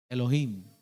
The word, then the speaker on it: Elohim: de maestro señor ayuda se pronuncia Elohim como Elohim sí o para ir al gym no Elohim Cuántas veces se